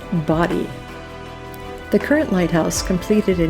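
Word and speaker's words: Bodie: time to find the bod Lighthouse and yes I said that wrong they pronounce it body the current Lighthouse completed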